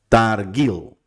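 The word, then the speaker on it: תרגיל: Se dice targil. En este caso, porque tenemos esta regla. Tenemos la I con una yud en la siguiente. Si esta yud llevara una puntuación abajo, sí la tenemos que pronunciar con la vocal que lleva. Pero si no lleva vocal, no se pronuncia.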